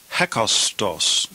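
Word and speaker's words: ἕκαστος: This word is pronounced hakostos. Notice the rough breathing in front. Hetos.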